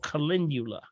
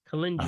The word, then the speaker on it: calendula: mind it's popped in my mind it's called calendula calendula ah okay calendula all right calendula c-l-e-n-d-u-l-a yeah